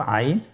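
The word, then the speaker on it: عين: এর মধ্যে একটি হরফ হলো আইন। আইন হরফটি উচ্চারণের সময় অবশ্যই 3 আলিফ টেনে পড়তে হবে এবং আইন হরফটি বারিক হরফ, পাতলা করে পড়তে হবে।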